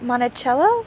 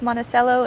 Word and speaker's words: Monticello: I think that's how they pronounce it up here. I've heard it do different ways, Monticello and Monticello. Down our area, we've got one as well. Two actually, that are two cities, so they're both pronounced differently.